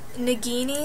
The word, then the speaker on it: Nagini: But anyway, we're gonna go over to the pronunciations. Okay, so Nagini, I had zero idea that that was how you said her name.